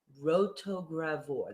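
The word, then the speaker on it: rotogravure: the road to gravore rotogravor that's how you pronounce that word what does that mean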